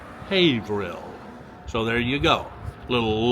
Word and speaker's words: Haverhill: The word is not pronounced by the locals as Haverhill. It's pronounced, she says, it's pronounced Haverhill. Haverhill.